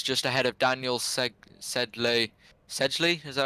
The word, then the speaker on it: Sedgley: Sedgley, is that how you say it?